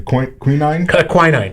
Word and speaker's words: quinine: You pronounce the word for me. The quinine?